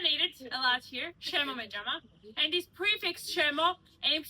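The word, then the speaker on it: შემომეჭამა: It is called shemo mejama. Shemo mejama. Say it. Good pronunciation.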